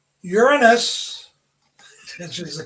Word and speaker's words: Uranus: Uranus, which is the correct pronunciation.